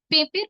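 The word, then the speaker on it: পেঁপে: পেপের প এর উপর চন্দ্রবিন্দু আছে। খানিকটা নাকি স্বরে বলব।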